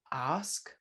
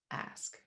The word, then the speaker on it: ask: examples of that is that there's a large group of words in the uk that get pronounced with an open ah sound like bath and past and ask and then when you come over to the states in canada those words jump they abandon that ah group and they instead belong to an a group so they become bath and passed and ask yes and i